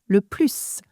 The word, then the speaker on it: plus: "Monde" is not an adjective here, so we are going to say "le plus" with a S sound. However, for "la plus grande côte jurassique au sud-ouest de l'Angleterre", we don't say the -s.